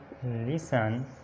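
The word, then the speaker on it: listen: उसके बाद टी से पहले अगर ई एफ या एस आ जाए तो टी साइलेंट होता है। एग्जांपल्स बैलेट, इसी तरह ऑफन, फसन, गौरमे, सफन, लिसन, इसी तरह विसल और नेस्ले, हसल, क्रिसमस।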